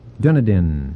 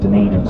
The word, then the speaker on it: Dunedin: Bay the Andy Bay well we both mispronounced this Dunedin Dunedin will now remember because when I get up from the table I'm Dunedin so I I keep that in my way to remember it right yeah this is